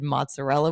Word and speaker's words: mozzarella: I don't know why we decided mozzarella was a good name for a giant fluffy dog. Fluffy and fat. She looks like a ball of fresh mozzarella. I gotta say it like my Italian friends. Mozzarella.